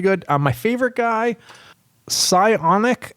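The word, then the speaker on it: Psionic: um my favorite guy pionic audio is I think how you say it it's PS IO n i audio and the guy's name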